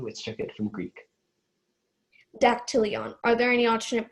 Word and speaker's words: dactylion: Okay, your word is dactylion. Can I have the word one more time? Dactylion. Dactylion. Can I have the definition, please? Tip of the middle finger. Dactylion.